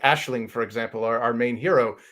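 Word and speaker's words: Aisling: So yeah, the cards all of the card because again the characters names like Ashling for example, our main hero, it's it's spelled as Elyn. but it's pronounced Ashling and it means like vision or dream.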